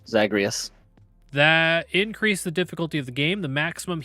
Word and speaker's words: Zagreus: packs of punishment upon is it zagreus yeah that's that's how I've always pronounced it zagreus that increased the difficulty